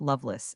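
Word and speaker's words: Lovelace: This name pronounced Loveless is that of an old English family.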